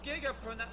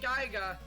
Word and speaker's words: Giga: Oh, I can pronounce Giga correctly. I just like pronouncing it Gaiga.